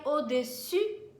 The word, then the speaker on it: au-dessus: voulez essayer une taille au-dessus, certo? Atenção, tem biquinho mesmo, porque o som do U, tá? Tem que fazer assim com a boca mesmo.